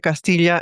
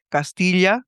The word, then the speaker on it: Castilla: Existió, incluso yo creo que en el último siglo nadie pronuncia esa diferenciación de Castilla a Castilla. Eso no, ya no existe.